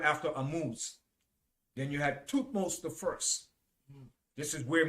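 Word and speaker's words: Thutmose: was the pharaoh after amuse then you had toothmost the first this is where moses name came from all right then you had two most a second all right his name is spelled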